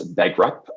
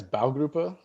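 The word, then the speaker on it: Baugruppe: timber passivhaus uh and i'm going to mispronounce this bagrup in seattle for his wife and kids you want to make sure i caught that pronunciation mike yeah it's bow grouper thank you and and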